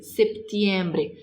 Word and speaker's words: septiembre: Setembro ou septiembre, septiembre. Se tem o P, precisa pronunciar o P, tá?